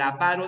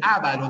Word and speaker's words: avaro: siempre es Barroco ya así como siempre es avaro El avaro de molier ya no es el ávaro de ese lavado es